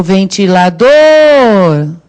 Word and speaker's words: ventilador: O ventilador. Aí, não dá para errar. É o dor que é a sílaba tônica.